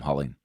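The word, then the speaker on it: Huling: Jim cooling or hulling Jim's last name is spelled hu Li ng I'll call him howleen it was published by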